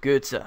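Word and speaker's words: Götze: thinking of is Mario GZA and yes it's pronounced GZA I'm pretty sure about that uh I've seen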